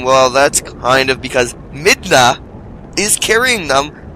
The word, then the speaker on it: Midna: is ridiculous like I I honestly thought it was spelled m-i-n-d-a but no it's spelled m-i-d-n-a so it's clearly mid na not Min da anyway I'll I'll try